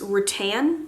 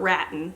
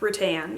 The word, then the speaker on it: rattan: around and i actually found this rattan is that how you say it i'm sure it's not ratten russell will go with rattan it's like a two-tier